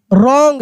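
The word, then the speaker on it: wrong: डू not take do not take the रॉन्ग। देखिए डब्ल्यू आर है तो W silent है।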